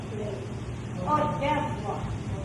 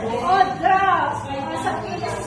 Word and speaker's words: hors d'oeuvre: So sa French po, pinopronounce as hors d'oeuvre. Di ba naman yung French parang may halak lagi? Paano lang sasabihin niya siya? Hors d'oeuvre. So sa English, pinopronounce na siya as hors d'oeuvres.